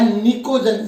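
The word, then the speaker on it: pnictogen: कौन सा, नाइट्रोजन family या निकोजन से कहते हैं, पी साइलेंट होता है, निकोजन फैमिली कहेंगे, नाइट्रोजन फैमिली, या हम इसे कहेंगे निकोजन फैमिली।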